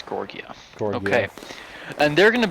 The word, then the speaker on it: Georgia: and the 24th gorgia that's actually how you pronounce Georgia it's not Georgia it's gorgia gor okay and they're going to be uh